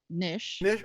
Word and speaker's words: knish: to realize um and the correct pronunciation is Nish okay all right thank